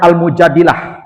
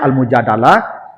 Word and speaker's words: Al-Mujadilah: Jadi, makanya ayatnya suratnya namanya Al-Mujadilah. Al-Mujadilah itu artinya perempuan yang mendebat Nabi. Mujadilah itu perempuan yang mendebat Nabi. Ada yang membacanya al-mujadalah. Kalau al-mujadalah itu masdar, perdebatan nantinya. Kalau almujadilah wanita yang mendebat Nabi.